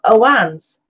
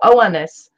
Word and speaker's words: Oannes: The legends of the Chaldeans is that of Oannes, or Oannes, that's O-A-N-N-E-S, a partly amphibious creature who